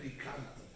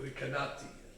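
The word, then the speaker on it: Recanati: There was a great rabbi called Rabbi Menachem Rikanti, or Rikanati, depending how you say it.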